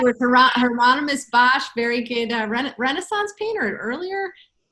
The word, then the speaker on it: Hieronymus Bosch: Hermanus Bosch. Oh yes. Did I say it right? With Hieronymus Bosch, very good Renaissance painter earlier.